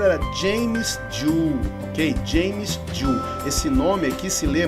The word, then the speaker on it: Joule: O mundo inteiro, por causa dos americanos, lê Joule, ok? Todo mundo fala Joule, mas a pronúncia correta é Joule.